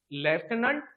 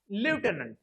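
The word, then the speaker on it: lieutenant: आय य एन एन लेफ्टनंट British प्रशन like लेफनं American प्रशन आहे लिफनंट आणि दुसरा शब्द आहे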